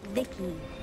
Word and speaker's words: V.I.C.I.: By the way, I'm V.I.C.I, pronounced Vicky.